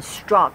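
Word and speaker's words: Strzok: his name this guy who actually committed treason struck I came in saying that name Peter strg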